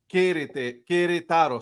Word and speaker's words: Querétaro: Ed, pronounce those names for us that Zach said. Yes. Conspiradores de Querétaro, Querétaro, sorry.